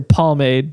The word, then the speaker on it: pomade: I know there's not an L, but it's pronounced pomade.